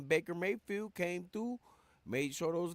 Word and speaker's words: Baker Mayfield: You know, I gotta say it, Maker Bayfield, but I gotta put respect on his name and say it right, man. Baker Mayfield came through, made sure those guys did what it was.